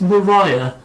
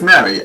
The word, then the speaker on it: Marie: I keep thinking it's Mariah. No, it's Mary. M-A-R-I-E. Mary.